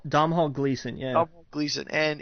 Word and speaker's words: Domhnall: Dom Hall Gleason.